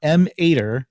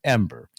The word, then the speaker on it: Em8er: for why the plant's name e-m-a-d-r but it's pronounced ember not m ater as so many have tried to convince me to call it but ember and it's actually in the japanese and the